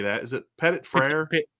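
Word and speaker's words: Petit-Frere: pettit how do you say that is it pettit freyr petite freire petite freire ashton craig and zach martin tai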